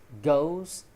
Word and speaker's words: goes: Goes, not goes. Probably they think it sounds like the word does when they say go.